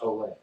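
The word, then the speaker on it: Olié: O-L-I-E, I believe is how you spell it. But it is pronounced Olay.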